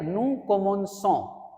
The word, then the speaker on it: commençons: Okay, the correct pronunciation is, if you add this cons, it will be like nous commençons. And if you don't add this small s here, cedilla, then it is going to be nous commençons, and that is a wrong pronunciation, and that is breaking the pattern.